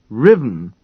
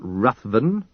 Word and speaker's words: Ruthven: "Will you please learn to say his name properly, Agatha? Riven, not Ruthven. Riven."